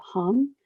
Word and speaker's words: Ham: van der polk and his name is jacob hum but that's spelled h-a-m so you can also